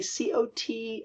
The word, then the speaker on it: caught: We say C-O-T and C-A-U-G-H-T are both pronounced cot with an open cot.